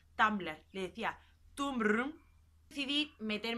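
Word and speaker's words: Tumblr: la tierra que antes sabes que se pronunciaba tumbler le decía tumbaron civil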